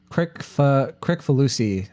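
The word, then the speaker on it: Kricfalusi: I don't know how to actually It's pronounce like his real name. Crick Falusi, I think is how you say it.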